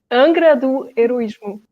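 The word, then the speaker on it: Angra do Heroísmo: knows and they can they can find it angra do heroism okay i don't think i could spell that out but okay i looked it up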